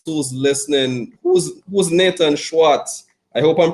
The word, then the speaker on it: Schwartz: and everybody else who's listening who's who's nathan schwartz i hope i'm pronouncing the surname correct hey you know what